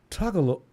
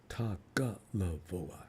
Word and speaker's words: Tagovailoa: Tagalavoa. It's Tagalavoa. I'm still trying to pronounce Polynesian names. You did that. Oh, the vowels. Ta. It's the first and second. It's Tagalavoa. Tagalavoa.